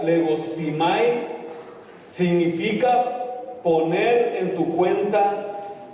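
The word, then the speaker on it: λογίζομαι: ¿Sabe lo que significa la palabra contado del griego que se pronuncia legosimai?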